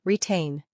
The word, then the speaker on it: retain: And notice the pronunciation retain. The stress is on the second part.